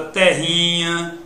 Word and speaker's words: terrinha: Na palavra terrinha, que está aqui, a sílaba tônica vai ser ri.